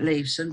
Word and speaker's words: Leeson: between james lewis merchant looks like leeson but he's connect believed to be pronounced lewiston back then because if you